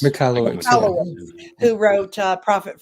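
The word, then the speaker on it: Michalowicz: it pronounced Michael Malowitz or McAllowitz. McAllowitz, yeah.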